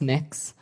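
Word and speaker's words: Mx.: Cameron tell me what you're you're proposing it's pronounced mix um mix is that how you how would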